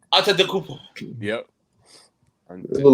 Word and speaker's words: Antetokounmpo: Yeah, I can't pronounce that. Thomas. Antetokounmpo. Yep. It's all in the tongue. Antetokounmpo. So you just found it out. Just phonetic spelling the motherfucker, pretty much. Look how it started. Antetokounmpo.